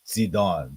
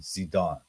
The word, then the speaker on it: Zidon: still spell ziden here because in Hebrew it's zidon zedon so they so in Hebrew it's oh wait wait zon zon it's not zon like Zed iio it's like the TS TS or TZ sound zon okay and then and